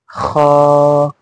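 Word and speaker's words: خاء: किस तरह पढ़ना है? हलक से, बगैर आवाज निकाले। पहले देन आ, पहले फिर आ। तो हा, हा, खा, हाँ, खा, खा, बिल्कुल शेर की तरह दहाड़ते हुए। खा, ये चिल्लाना भी नहीं है।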